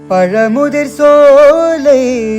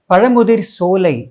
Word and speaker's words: பழமுதிர் சோலை: சோலைக்கும் என்ன பெரிய வித்தியாசம் தமிழ்ல தா என்கிற எழுத்துக்கு உச்சரிப்பு சாதான் சிரிப்பு சோறு ஆனால் இச்சுக்கு அப்புறம் வரக்கூடிய சாக்கு சா என்றுதான் உச்சரிப்பு பார் எக்ஸாம்பிள் பச்சை மெச்சினான் சோ பழமுதிர் சோலைக்கும் பழமுதிர் சோலைக்கும்